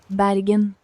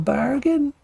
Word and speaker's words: Bergen: How do you pronounce it? Hold on. Bergen.